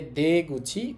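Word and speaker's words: 出口: আর এরপর আমাদের কাঞ্জি আছে যেটার উচ্চারণ হবে গুচি। গুচি অর্থ হচ্ছে মুখ। তাহলে দে গুচি অর্থ হয় বের হয়ে যাওয়ার মুখ।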